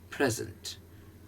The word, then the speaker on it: present: ये उठता है present, present. प्रे उठेगा, zen बैठा बिना.